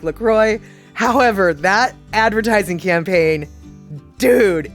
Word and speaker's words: LaCroix: how to pronounce it lacroix rhymes with enjoy and vanilla coke